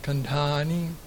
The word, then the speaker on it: Khandani: There's a long A though. That's it, the last A. The last A is long. Khandani.